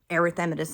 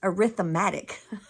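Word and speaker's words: erythematous: is just, you know, arythemmitus and arythemmitus rash. And they said arythmatic. Never never even contemplated that pronunciation. It's amitus.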